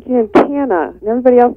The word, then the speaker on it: Giancana: Well, actually, Giancana is I think phonetically the way it should be pronounced, but being out of Chicago, I have that hard kind of A sound, so it's Giancana.